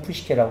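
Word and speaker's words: Psyche: 사이키는 푸시케라고 발음하는데 이거는 에로스의 부인이죠.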